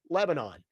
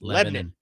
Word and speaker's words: Lebanon: Everybody knows the country of Lebanon, but it's Lebanon.